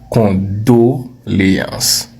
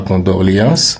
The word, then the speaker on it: condoléance: dépend ok on continue condoléance là on entend souvent des versions créatives comme qu'on doréance non Non non non non non. Le mot correct c'est condoléance. Répète condoléance ce n'est pas condorléance c'est condoléance.